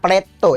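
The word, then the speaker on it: plateau: Jadi, ini dibacanya pleto ya, Sobat belajar.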